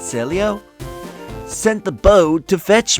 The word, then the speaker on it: Celio: My friend and Celio or Selio, I think that's how you say it, Selio.